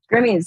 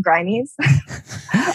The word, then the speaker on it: Grimmies: what's that all about grimmies thank you for pronouncing it correctly some people have called them grimies that's like reaper right grim reapers yeah okay good yeah they're groomies yeah so this i